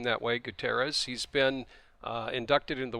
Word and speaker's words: Gutierrez: You know, we brought up Juan Gutierrez, as I pronounce his name that way, Gutierrez.